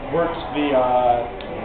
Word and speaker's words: wort: Wort's that sugary liquid that we made with the... how do you spell it? W-O-R-T. But it's pronounced like W-E-R-T.